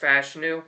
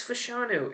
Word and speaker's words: Fashanu: out of Penn State it is pronounced fashu by the way Olu said it himself so for everyone's saying it's fashanu it's not but they desperately need help